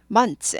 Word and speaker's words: months: prn prn 예 어 month 하지 않고요 months mons month 하지 않아요 months mons months는 내가 발음을 해준다 모양을 해 준다 정도로 넘어갑니다 그래서 mons mons mons mons 이렇게 돼요 She was killed 은요